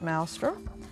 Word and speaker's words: maelstrom: And I should have pronounced that maelstrom.